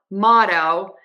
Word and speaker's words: motto: Mortal Mortal Mortal and now for motto we're just going to end with that o motto motto motto so again think about my D's here are actually a flap T I just think it's so much easier to think about making a Fast D another thing to keep